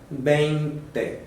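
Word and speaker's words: veinte: Quando chega aqui no numeral 20, a pronúncia do último aqui é exatamente um E. Então você vai pronunciar bente. Tem que lembrar do V com som de B e tem que lembrar do E no final com som fechado.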